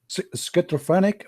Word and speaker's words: schizophrenic: Schizophrenic.